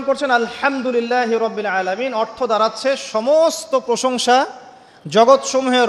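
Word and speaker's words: الحمد لله رب العالمين: হা এর মাখরাজ কোথায় বলেন একজন? কণ্ঠনালীর মাঝখান থেকে। এখান থেকে আপনি উচ্চারণ করছেন আলহামদুলিল্লাহি রাব্বিল আলামিন।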